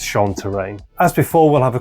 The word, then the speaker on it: Chantraine: to control the game you'll note that I was mispronouncing in the last two episodes I think think I was saying uh Shin it's sha terrain as before we'll have